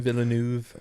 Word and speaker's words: Villeneuve: didn't see Arrival, but I enjoy, I can't pronounce his last name, but my man Dennis is what I call him. Villeneuve.